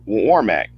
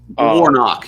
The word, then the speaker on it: Warnock: 2022 sure against her Ursa Walker and Senator Womack I hope I hope I pronounce his name right Warnock yes but yes or not Warnock I'm sorry